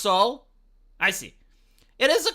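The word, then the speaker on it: Seoul: answer is yes um it's pronounced soul I see it is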